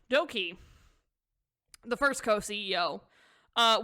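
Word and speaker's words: Dok2: all right doki the first co ceo uh which is pronounced as doki because the way to is pronounced in sino-korean is e so you're wondering why it's doki so he is a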